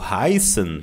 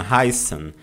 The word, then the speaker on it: heißen: O I no alemão tem som de I, tá? Então nós pronunciamos assim, ó, heißen. Até porque essa letra esquisita aqui, que se chama Estzet, ela tem som de 2 S's, tá?